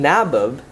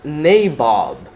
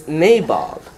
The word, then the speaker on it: nabob: that someone else close so instead of being nabbed if you read the pronunciation symbols the uh a at the beginning